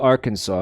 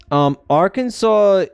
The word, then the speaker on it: Arkansas: For years, I refused to pronounce it with a W at the end because that's not a W.